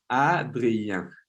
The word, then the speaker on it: Adrien: Est-ce que je prononce ton nom correctement? Adrien? Adrien? Adrien? Ah, non, Adrien.